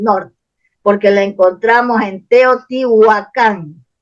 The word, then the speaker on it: Teotihuacán: la encontramos en Teotihuacán se escribe con wv y con k es como se revitaliza el nombre Porque los curas le ponen con h y dicen guacán y con c Ah cambian lo deforman el nombre y en